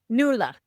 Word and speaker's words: Nuala: Am I pronouncing that right? Nuala. Nuala.